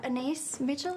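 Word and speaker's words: Anaïs Mitchell: offer yeah okay think anise Mitchell is how you pronounced the name anise Mitchell is a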